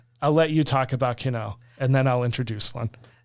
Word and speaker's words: Kino: Did I pronounce that right? Yes. Okay. I'll let you talk about Kino and then I'll introduce one.